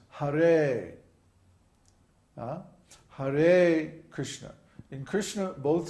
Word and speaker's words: Hare: So in Hare, for example, the first syllable is short and the second syllable is long. So it's not Hare, it's Hare.